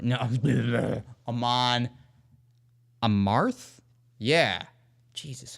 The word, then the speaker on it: Amon Amarth: I've got Amon Amarth. Wait, did I pronounce it right? No. Amon Amarth?